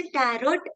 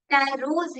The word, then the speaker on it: Tarot: इसका pronunciation टैरोट नहीं है, टैरोज है, टैरो कार्ड्स।